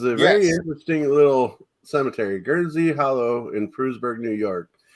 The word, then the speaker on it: Guernsey: had an investigation called gear and say yeah you butchered it I I think you're trying to say Guernsey guerns okay I thought